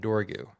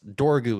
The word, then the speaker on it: Dorgu: And the rat in charge of things is this old rat named Dorgu. So I allowed myself one weird fantasy name and made sure it was only two syllables. So that's Dorgu is the one weird.